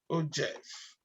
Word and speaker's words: ogive: let's move to the o gif we call it og or some call it um or be pronounced by o o jeff so it's more or